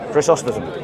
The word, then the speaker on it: Chrysostom: Yeah, is that how you pronounce his name? Chrysostom.